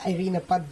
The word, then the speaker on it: Irina Poddubnaia: My name is Irina Poddubnaia.